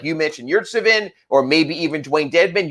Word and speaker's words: Yurtseven: Yeah, Yurtseven is how it is. Yurtseven, that's how it's pronounced.